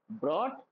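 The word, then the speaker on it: brought: become become become begin begin begin break broke broken bring ब्रॉट ब्रॉट याद रखना यहां पे जीएस साइलेंट होता है उसके बाद बिल्ड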